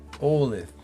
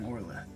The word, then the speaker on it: Orleth: Olive. I'm Orleth. Olive? Orleth. Olive. Gotcha. Ending in a TH. Well, yeah. It's all right. He doesn't pronounce those. I can't.